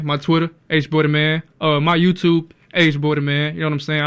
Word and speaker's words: Hboydaman: A lot of people mispronounce it as Damon.